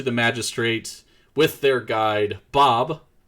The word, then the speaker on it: Bohqbe: magistrate with their guide, Bob, which is spelled, for those keeping score at home, Bohqbe. Mind you, the Q and the E are silent.